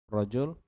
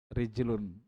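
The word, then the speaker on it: رجل: ini rajul jadi Perhatikan Kalau Rijal itu ada ada Alif setelah Jim begini ya kalau tidak ada berarti rajul laki-laki atau rijlun artinya kaki sama tulisannya tapi beda bacanya itu dari mana kita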